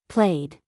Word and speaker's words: played: Played. Wanted. Walked ends with a T sound. Played ends with a D sound.